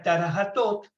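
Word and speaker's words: Thoth: Uno de esos libros es el que conocimos solamente con el nombre del libro de Tot, que en egipcio antiguo se pronuncia Tarahatot, y que por deformación de la expresión con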